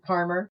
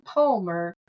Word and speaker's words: Parmer: Now, when you type in Parmer, it rhymes with farmer, but it starts with a P. Yeah. If you put in Palmer, you will get something very, very different.